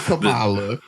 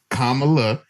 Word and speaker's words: Kamala Harris: them know, like, hey, my name is Kamala Harris. It's not Kamala. It's not all these weird pronunciations that you keep doing. It's a very simple Kamala Harris.